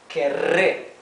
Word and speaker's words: querré: So here we can see that this double R is pronounced R. Okay, it is the rough sound of the R.